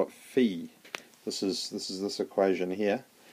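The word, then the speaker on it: π: Phi is phi. Greek is very interesting, Greek letter phi. This one here, just as a sidetrack, that is, you call it pi, but it's actually pronounced p.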